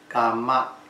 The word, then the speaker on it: Kama: Also another word, Kama. Okay. It's spelled K-A-M-A.